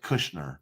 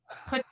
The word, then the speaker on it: Kutcher: Kushner. Did I say it right? That 70s show. Kutcher, I think.